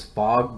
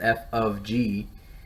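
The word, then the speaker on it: f∘g: as f of g i know it looks like it says fog but it's actually pronounced f of g of x equals when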